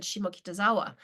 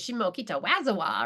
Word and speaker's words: Shimokitazawa: And of course, the person mispronounced every Japanese word. You should have heard how they said Shimokitazawa. It was Shimokitawazawa or something.